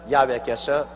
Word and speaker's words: 야훼: 왜냐하면 원래 일을 행하시는 여호와, 그 일을 지어 성취하는 야훼 하나님이신데, 야훼라 해도 좋고 여호와라 해도 좋습니다. 그러나 야훼란 말이 더 정확한 발음입니다.